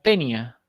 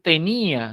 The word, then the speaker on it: tenía: generar el diptongo porque si no rompo el diptongo en un yato entonces tengo la palabra tenia y no es tenia en este caso es tenía del verbo tener no